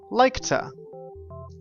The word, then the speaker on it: like to: we say tah tah we take the two sound and we put it on the previous verb so for this one we say like to like to repeat the sentence